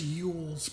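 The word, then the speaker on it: Eules: I think it's Yules, because it's spelled like mules, but with an E.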